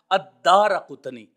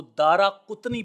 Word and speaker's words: الدارقطنی: کی قبر کے پاس ہے۔ تو یہ تھا تلفظ جو میں نے عرض کیا الدارقطنی۔ انشاءاللہ ہماری کوشش ہوگی کہ ہم اس کو جان لینے کے بعد آج کے بعد ہم اس کو دارقطنی پڑھیں گے جو محدثین کرام نے اس کا